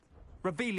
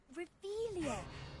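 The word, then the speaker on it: Revelio: Revelius! You're saying it wrong! Ugh, Revelia! Much better.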